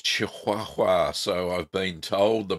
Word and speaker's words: Chihuahua: Well, it's Chihuahua, so I've been told the pronunciation is.